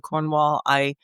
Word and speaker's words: Cornwall: And to bring that second syllable down into the deep recesses of your throat so you hardly say it. You sort of mumble it out.